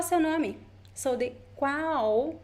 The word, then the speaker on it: qual: Qual é o seu nome? Qual é o seu nome? So the qual, the L, sounds like U, sounds like a very weak U.